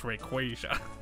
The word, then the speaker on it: Rayquaza: him uh a little rayquaza figure man it's actually pronounced rayquaza um but yeah yeah